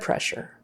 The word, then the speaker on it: pressure: not blood donor blood pressure blood pressure um SS in the middle is actually an sh sound blood pressure blood pressure